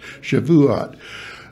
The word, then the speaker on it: Shavuot: it goes by uh the Jews call it Shavuot Shavuot three three syllables some people try to make it two-syllable but it's Shavuot and that just means